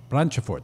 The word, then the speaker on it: Branchefort: Branchefort, don't pronounce the E.